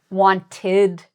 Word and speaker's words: wanted: So some past tense words like wanted, visited, they have this id sound.